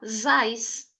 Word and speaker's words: his eyes: A palavra eyes se pronuncia assim, isoladamente. Eyes. Só que aqui nós temos his. Então você vai juntar o S do his com eyes, vai ficar zais.